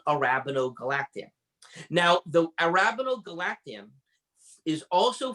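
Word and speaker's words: arabinogalactan: And now we have something that you're going to have to pronounce for us, David. Arabinogalactam.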